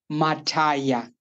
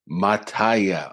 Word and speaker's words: Mataya: Correct me, please. Yeah. Mataya. Mataya. Okay. This whole time I've been saying Louis Mataya, but it's Louis Mataya.